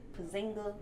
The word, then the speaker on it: Porzingis: They have Carmelo, D You Rose, got Joakim And- Noah, Porzingis.